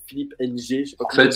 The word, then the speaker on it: Ng: à le prononcer Philippe NG en fait le NG pour pour se prononce comme un M aspiré il prononce comme enitouord OK